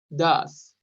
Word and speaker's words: does: Es entre una O y una A la pronunciación. Does.